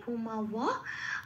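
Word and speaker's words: ভূমাব: ভূমা যেমন আছে তেমন, বকে ব হিসেবে বলতে পারবো না, সংস্কৃতের উচ্চারণ ও প্লাস ওয়া হবে, ভূমা ওয়া।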